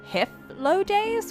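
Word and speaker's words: Hythlodaeus: I just realized I have Hiflodaeus with an F? Hiflodaeus' mask? That is weird. I find it very strange that it's pronounced with an F, but okay.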